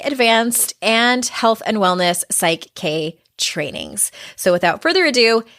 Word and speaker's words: PSYCH-K: I don't even know if I'm pronouncing it right. Is that correct? Yes, it is. PSYCH-K.